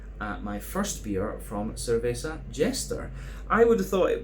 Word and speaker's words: Cerveza Jester: my first beer from Cerveza Jester. I would have thought it would have been pronounced Cerveza Jester, but apparently they like the English pronunciations.